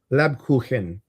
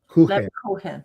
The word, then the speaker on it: Lebkuchen: Can I tell you how to pronounce this? Sure. Lebkuchen. Lebkuchen.